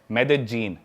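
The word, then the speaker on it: Medellín: Colombia एक country है south America continent में, उसकी एक सिटी है मेदेजीन। स्पेलिंग में उसमें डबल एल आता है, मेदेलीन होता है, लेकिन कोलंबियन स्पेनिश में ल को ज बोलते हैं, तो मेदेजीन।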